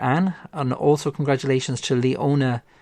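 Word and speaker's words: Leonie: And also congratulations to Leona or Lonnie Murphy. I hoping I'm pronouncing your name correctly. It's Lonnie, I think. L E O N I E. Um or Leone. Leone Murphy. I hope that's the correct pronunciation.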